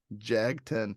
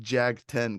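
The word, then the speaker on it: Jagten: Jagden. I think it's pronounced Jag-10, Cameron.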